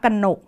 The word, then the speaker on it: กนก: คะ เช่น นะ คะ กนก อ่าน ว่า กนก จรวด อ่าน ว่า จรวด